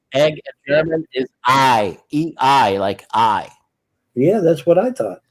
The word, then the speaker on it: Ei: The way you you say egg and pronounce egg in German is I ei.